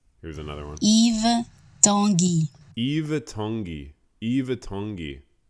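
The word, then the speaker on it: Yves Tanguy: like him more wait Eve tengi wait okay pronounce Eve Tangi no way Eve's hungry Eve tongi Eve Tangi Eve Tangi really it's not Yves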